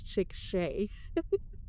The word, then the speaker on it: Chickasha: So for Grady County, the county seat is in Chickasha, and just look it up, Chickasha, and yes, it is Chickasha. I've heard varying pronunciations of that town.